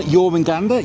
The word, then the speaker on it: Jormungandr: We've just been on Jormungandr. Yes, we learned how to pronounce it from the ride up.